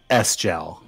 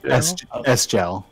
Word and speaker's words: Sgel: You're supposed to know to say the S.